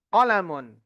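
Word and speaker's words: قلم: Kitabun kemudian qolamun. Nah, ini yang sering kita dapati ketika mengucapkan kata qolamun. Sebagian kita itu sering bacanya qolamun. Salah ya. Qolamun. Qolamun pendek.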